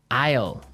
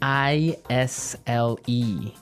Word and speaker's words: isle: now isle is a i s l e Isle Isle it's a tricky word it sounds like the contraction of I will yeah but it's spelled so strangely right we don't pronounce the S the S is silent